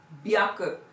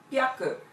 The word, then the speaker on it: 百: So this hyaku could also be pronounced as byaku and pyaku in some contexts.